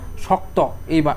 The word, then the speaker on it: শক্ত: দেখো শক্ত, এই যে শেষে কি আছে, ত, ওকারের মতো হচ্ছে উচ্চারণটা না, উচ্চারণ হচ্ছে না।